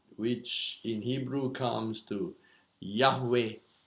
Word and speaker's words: Yahweh: Jehovah CH you know we got the word Jehovah from the early what I call enunciation of Hebrew because uh then later on they began to get the more accurate pronunciation that's how you get Yahweh yeah so original was J Jehovah but there's no J sound the original and uh just like